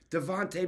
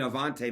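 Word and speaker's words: Avonte: oh what a Play What a another guy Devonte Maddox right Avon MX I mean Avante Maddox okay me and my me and my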